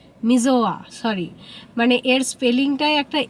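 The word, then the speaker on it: Missoula: একটা শহরে দাঁড়িয়েছে এখন যেটার নাম মিজোলা। মিজোয়া সরি। মানে এর স্পেলিংটাই একটা এল আছে কিন্তু উচ্চারণে সেটা উজ্জ মিজোয়া।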